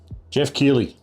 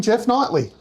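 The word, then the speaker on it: Geoff Keighley: Jeff Keighley. Yes! He said it right. Yeah, I said it wrong once, like 7 years ago. And I have a very good memory. You called him Jeff Knightley.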